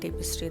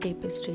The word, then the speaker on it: tapestry: Showing all the crochet टेपिस्ट्री that I have done so far. Okay. So the funny thing is I have been pronouncing टेपिस्ट्री। Wrong apparently it's नॉट टेपिस्ट्री। इट्स टैपिस्ट्री बट अब मेरे मुंह पर बैठ गया है।